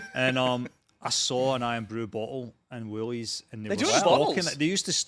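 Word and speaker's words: Irn-Bru: get iron Brew so how do you pronounce it iron Brew iron Brew but when I first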